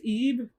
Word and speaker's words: Ib: But it's pronounced Ebe. I know, it's weird.